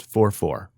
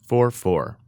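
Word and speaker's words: 4/4: two numbers it's pronounced 44 I don't when I was learning music I wanted to say a fraction for fourth is there something like that but it's pronounced 44 and it's one of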